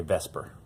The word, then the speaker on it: VSEPR: So that would be a little weird to say, VSEPR, and we just say VSEPR.